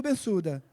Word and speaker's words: Bensouda: Aninha, por favor, Fatou Bensouda. Aninha, se escreve Fatou, como no nosso vernáculo.